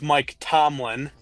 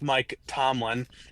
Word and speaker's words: Mike Tomlin: tier, but as Drew couldn't even say his name right, it's Mike Tomlin. I don't even know what the hell Drew was trying to say, but it's Mike Tomlin.